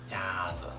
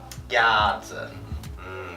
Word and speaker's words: 鸭子: 鸭子. 鸭子.